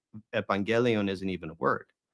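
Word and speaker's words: εὐαγγέλιον: that, oh, okay, like evangelion isn't even a word. It's evangelia. It's a different word, right? That has a different stress. Evangelion with the stress on the gel, and evangelia with the stress on the ia.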